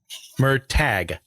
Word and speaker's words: Murtagh: yeah check it out was it mer tag or mer hog I never can remember how to pronounce it correctly well uh he's oh handy any pronunciation guide put a pronunciation guide in the back of the book guys let me make sure I'm reading it right um this is gonna go on for too long yeah it's okay mer tag merag okay yeah my pronunciations are